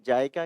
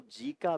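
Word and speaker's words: JICA: इसका वित्तपोषण जायका के नाम से आपने कई कई बार इसको जी का भी उच्चारण किया जाता है। कई बार जायका किया जाता है। जो भी आपका उच्चारण हो उससे कोई फर्क नहीं पड़ता।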